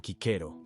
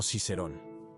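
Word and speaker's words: Cicero: cicerón como un ejemplo sabemos que la c se pronunciaba como K por lo que el nombre habría sonado como kiker y no cicerón que es cómo se pronunciaría en latín eclesiástico Esa es la forma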